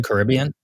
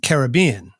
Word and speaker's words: Caribbean: for that is because it's a reference to the Carib people of the areas and not the CBS